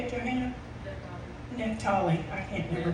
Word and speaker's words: Naphtali: Naphtali. I can't never pronounce that.